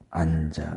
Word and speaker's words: 앉아: 그냥 앞에 것은 두고 뒤에 것, 겹받침 중에 뒤에 것을 뒤음절의 첫소리로 옮겨서 발음한다. 자, 그래서 이거에 대한 예가 뭐였어요? 아까 앉아 같은 경우. 앉아. 이런 경우에는 앉아. 뒤로 그냥 넘겼어요.